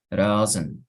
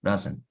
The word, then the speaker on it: doesn't: Entonces dirías doesn't, algo así, doesn't. Obviamente, recuerden la T tampoco suena.